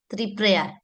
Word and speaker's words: Triprayar: Have I pronounced it properly sir? Three prayer. Yeah. Yeah. Yeah. That's right. Three prior.